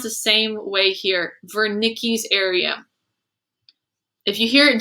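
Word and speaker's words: Wernicke's: this word i've heard vernickies it's just like how vance how his last name start with a w but it sound like a v i've heard it pronounced the same way here vernicki's area if you hear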